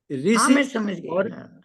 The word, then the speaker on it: ऋषि: की बात कर रहे देखिए सुनिए ऋषि ऋषि दोनों में अंतर हो गया हा ये मुर्धन्य है मुर्धन्य है ऋषि हा ऋषि मुर्धन हा ये उच्चारण थोड़ी मेहन बोलते हैं ऋषि जी री ये बोलते थे और एक गलती